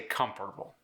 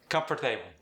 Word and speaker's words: comfortable: For instance, I say comfortable. He might say comfortable. Interesting. Interesting. Notice how I placed the stress at the beginning of each word, and his was more towards the end.